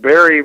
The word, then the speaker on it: Barre: one I'd like to address comes from it's pronounced Barre Vermont Anne happened to know the proper pronunciation